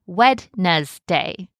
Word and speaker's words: Wednesday: Many people learn to say it in their head like Wednesday. And even though we don't pronounce the word that way in everyday speech, the spelling voice helps us remember the letters.